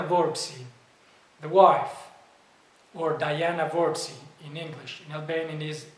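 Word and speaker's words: Vorpsi: and let's see the last name of bessem verbsi that's to say verbsi Let me spell it v-o-r-p-s-i verbs is related to the word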